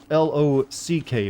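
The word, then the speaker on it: Locke: loki even sounds better like lock is l-o-c-k but he's got like l-o-c-k-e why not just leave the e off of his name as if he's pronounced with lock loc do you think they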